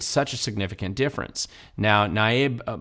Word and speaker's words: Nayib: Now, Nayib Bukele actually is how you pronounce it.